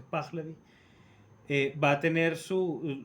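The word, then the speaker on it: Pahlavi: Eh, bien, la monarquía de los shas de la de la dinastía de los Plavi que lo lo la suele pronunciar mal, pero se pronuncia spaglavi eh va a tener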